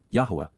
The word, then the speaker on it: Yahweh: the hand minad of Yahweh Yahweh the proper pronunciation of the name of eloah God as directed in